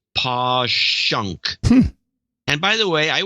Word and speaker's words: Passyunk: the wall and then Passyunk is pawn push em PA SS y u NK is posh UNK and by the way